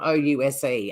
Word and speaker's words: Ouse: We've got a town in Tasmania called Ouse, and it's spelled O-U-S-E.